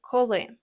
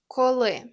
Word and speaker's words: коли: For that you'll need коли, which means when. The pronunciation is коли. The stress is on the second syllable.